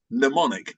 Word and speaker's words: mnemonic: The actual official word is mnemonic, but that's a really hard word to pronounce or spell. Ironically, you don't say the M at the beginning, M for memory, you don't say it.